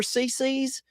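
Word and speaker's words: CiCi's: Do you remember Cece's? It was like a kids all-you-can-eat style pizzeria. I don't think they're around anymore. It's spelled C-I-C-I, Cece's Pizza.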